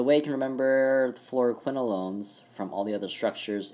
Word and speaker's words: fluoroquinolones: And the way you can remember the fluoroquinolones from all the other structures in this exam, fluoroquinolones, quin, rhymes with twin, you have twin rings right here.